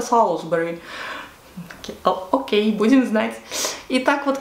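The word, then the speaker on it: Salisbury: Например, Солсбери пишется как Солисбери. Мы всегда говорили Солисбери, Солисбери, а потом нас поправили и сказали, вообще-то это Солсбери.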